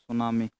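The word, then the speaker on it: tsunami: Landslides, सुनामी। सुनामी की spelling सही है ना? इसमें टी साइलेंट हो जाता है, स्टार्टिंग में टी लगाया, उसी को ही साइलेंट कर दिया, ठीक।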